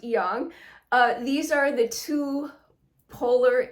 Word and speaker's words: yang: And you probably have heard of how most people say it, yin and yang. It's more appropriately pronounced yang.